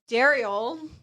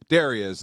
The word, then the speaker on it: Derrial: Cuz Ryan, who I've known for years, has done different altercations of my name today. Darius, Daryl, Derell.